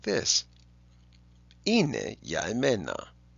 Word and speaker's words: είναι: If we remember that great old standby, ine, which means it is, he is, she is, and they are. In modern Greek, ine, they are, is spelled with an alpha iota.